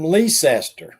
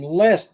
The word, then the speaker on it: Leicester: place up home where i'm from it's called it's spelled l-e-c-e-i-s-t-e-r now some people say i'm from leecester lee sester but everybody that's from up there said they're from leicester they just say lester they don't stay say